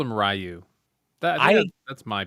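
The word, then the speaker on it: Ryu: I don't know if anyone here speaks Japanese or is Japanese but there's like a sound we don't really use in English and it's something like that that is the tech right way.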